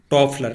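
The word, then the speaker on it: Toffler: टॉफलर इनका सही उच्चारण है, यहाँ पे ये गलत दे रखा है।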